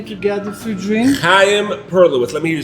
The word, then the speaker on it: Chaim Perlowitz: So I have to mention the Chaim Perlowitz show when you come here to get a free drink on the house from our Taras the barmaker. All right? You mentioned Chaim Perlowitz, you get a free drink when you come in here.